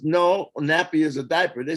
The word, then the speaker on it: Napi: and i says no nappy is a diaper they said no no brother no no no not n-a-p-p-y n-a-p-i because i is e in hawaii that's why they say wiki-wiki but they spell it w-i-w-i